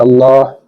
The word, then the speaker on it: Allah: Bacaan Allah ini ada dua cara membacanya. Yang pertama itu kita baca tebal atau tafkim dan kemudian tipis atau tarkik. Pada ayat ini ada bacaan Allah yang kita baca tarkik yaitu bismillahi.